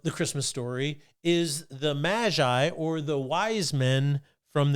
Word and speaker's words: Magi: Now, after Jesus was born in Bethlehem of Judea in the days of Herod the king, behold, Magi from the east arrived in Jerusalem, saying, now it's pronounced Magi, and it's technically a caste of wise men specializing in astrology, medicine, natural sciences.